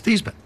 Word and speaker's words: Theismann: He said, "Joe, I want to tell you something. There's a trophy out there called the Heisman Trophy.